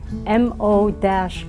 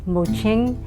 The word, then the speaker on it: Mo-Ching: I'm Mo-Ching, and that is spelled M-O-C-H-I-N-G, but since the digital world hates that hyphen, I sometimes take it out, but it's Mo-Ching.